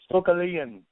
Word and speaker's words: Stokelian: I said Stokelian. Is that right? Stokelian is how you should pronounce his name. So let's make sure we get it right.